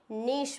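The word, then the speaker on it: niche: पढ़ते हैं अगर हम अमेरिकन बोल रहे हैं तो इसको नीच बोलेंगे वेल अगर हम ब्रिटिश बोल रहे हैं तो हम इसको नीश बोलेंगे क्लियर हो गया चलिए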